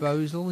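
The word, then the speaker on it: Bhosle: Asha, and I might say this name wrong, Bosel, do we think? Bosel, yeah.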